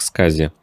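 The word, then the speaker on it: SCSI: интерфейс малых вычислительных систем аббревиатура skazi произносится как skazi версия работающие с более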